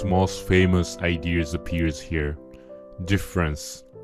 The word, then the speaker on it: différance: So one of Derrida's most famous ideas appears here, différance, spelled with an A. In French, différance and difference sound identical. You cannot hear the difference. It is visible only in the writing.